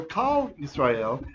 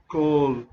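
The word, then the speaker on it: כל: is over here so when you have a comet's and it's in a closed unaccented syllable then that means it's an o sound it's like oh so it's not el cal but in this case it's el cole israel although he wouldn't accent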